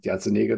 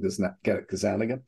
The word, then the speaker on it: Gazzaniga: I met Mike Gazzaniga, Gazzaniga, depending on where you are and how you pronounce it. I call him Gazzaniga.